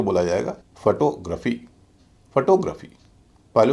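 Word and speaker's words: photography: फिर हल्का फिर भारी फोटोग्राफी ना कि फोटोग्राफी और जितने भी शब्द हैं जिनके अंत में जी आर ए पी एच वाई है उन सब में भी जी आर ए पी एच वाई का उच्चारण रफी ही होगा ग्राफी नहीं होगा जैसे जियोग्राफी ज्योग्राफी भी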